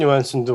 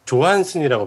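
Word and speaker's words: Johansson: 그 스칼렛 요한슨도 원래 조한슨이라고 발음해야 되고 알죠?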